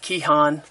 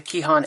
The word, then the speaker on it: KEHAN: use of course is I guess it's pronounced key hon it's a key Han app free when you